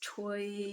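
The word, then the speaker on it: 吹: So the sound is like water. It's toy. I would spell it something like c h ui.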